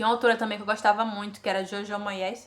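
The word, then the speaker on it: Jojo Moyes: gostava muito que era Jojó Moés, acho que se pronuncia assim, Joj Moés, que é uma escritora de romance.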